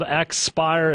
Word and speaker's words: Xpire: also Jesse stofer again the app is called expire it's spelled XP i e find it online at get expire.